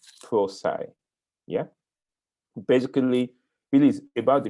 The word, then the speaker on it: Prosci: tell us and so the founder of proi which stands for professional science so it's the pro in professional and the seci in science so the way the owners of the company pronounce it is prai yeah basically really about